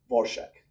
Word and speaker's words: Dvorak: I have to think about the pronunciation because it's not the pronunciation. It's just the pronunciation that she wanted people to adopt, Dvorak.